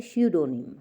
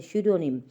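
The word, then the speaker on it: pseudonym: में, और इंग्लिश में श्यूडोनिम, क्या बोलते हैं उसे, श्यूडोनिम। पी साइलेंट है, ये देख लीजिएगा, जैसे निमोनिया में पी साइलेंट होता है वैसे ही यहाँ पर भी पी साइलेंट है, श्यूडोनिम।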